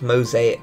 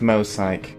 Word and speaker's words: Mosaic: Hello everyone, welcome to Mosaic Gaming. Hi everyone. Wow, making some Mosaic Gaming videos. Emil, it's pronounced Mosaic. Don't listen to anyone else, it's Mosaic.